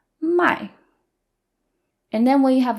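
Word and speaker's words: 卖: I and my is fourth tone so it sounds more angry and more forceful my and then when you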